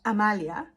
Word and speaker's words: Amalia: that means for example if you have um Amalia it has three ass so Amalia it it does has this very sh uh pronunciation where you pronounce the first a but then you have a softer one it's the same sound but it's a little you know slightly softer Amia and actually I